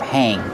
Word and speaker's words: hang: How do you pronounce hang? Hang, used along A sound like plate and date. Hang, hang, like this.